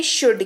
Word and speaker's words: should: बात करते हैं शुड की, SHOULD, L हमारा साइलेंट, इसीलिए इसका उच्चारण हुआ शुड, जिसका मतलब होता है चाहिए।